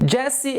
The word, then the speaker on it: Jessie: posição Love Jessie J Consertei tá a pronúncia do nome dela que eu tinha errado horrores nos Rex da música Jessie é assim eu não tenho palavras